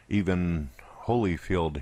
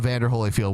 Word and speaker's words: Evander Holyfield: just does Mike Tyson bit the ear off even Holyfield here even even even Holyfield his name is